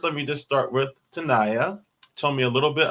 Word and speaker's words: Tenaya: It's born Tenaya, but I'm so used to it being said as Tenaya because of Hartford. Spanish language speakers often call me Tenaya, so it's definitely a variation that I accept.